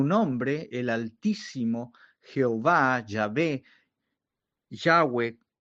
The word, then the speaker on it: Yahweh: Su nombre, el Altísimo Jehová, Yahé, Yahweh, como se pronuncia en hebreo, eh no debe ser tomado en vano.